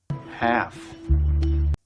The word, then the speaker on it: half: where is my walkie-talkie another word where the letter L is silent is half this is a half of an apple 5:30 you can also say half past five half look at it now